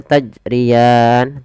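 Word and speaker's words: تجريان: Ada beberapa kesalahan di dalam membaca qalqalah. Salah satunya yaitu dia tidak mantul. Tidak mantul. Itu kesalahan. Misalnya tajrian tidak mantul. Yang kedua menambah hamzah. Salahnya yaitu tajrian. Nah, ini salah juga. Bagaimana yang betul? Tajrian. Oke, kita ulangi.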